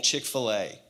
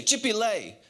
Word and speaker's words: Chick-fil-A: young she had a funny way of saying chick-fil-a she would say chippy lay she says bobby can we go to chick-fil-a and at no point did i ever say no stupid that's not how you say it because it was cute and i thought it was adorable but the truth is is she got it wrong but because i love